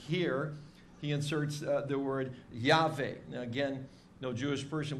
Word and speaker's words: Yahweh: oops for pronouncing that we just take a shot at it and say it's yave some people say Jehovah what's the importance of